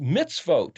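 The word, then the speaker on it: מצוות: Well, vav tav is the plural of mem zadi, which is pronounced mitzvot.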